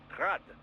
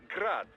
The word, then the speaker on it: Grad: Technically, the Eugi's name is pronounced Grad the Ukrainian way, but most in the business pronounce it as Grad Russian style.